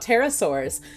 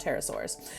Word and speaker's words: pterosaurs: and find out about pterosaurs um not pterodactyls i know it's a p that silent p terrible spelled with a